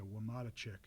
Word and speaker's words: Wamatachik: Camp Kippa, Camp Wamatachik, which I just learned I had been pronouncing wrong for the past number of years. So Wamatachik, all that stays the same.